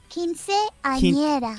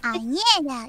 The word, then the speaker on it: Quinceañera: Quinceañera. Quinceañera? Like that? Quinceañera.